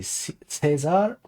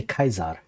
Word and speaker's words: Caesar: do you pronounce Caesar my Latin teacher always say Cesar but reading it I what kesar so I would say kaizar the way I learned